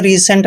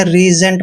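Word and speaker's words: resent: ई एस ई एनटी इसको हमने रिसेंट नहीं पढ़ना रीजेंट पढ़ना है क्योंकि एस से पहले अगर ई आता है और ठीक इस के बाद ई आता है तो इसका उच्चारण ज करते हैं रिजेंट दोस्तों रिजेंट मींस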